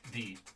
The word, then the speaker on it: Ye: Y-E. The. It's a thorn. The character's Yes. called a thorn.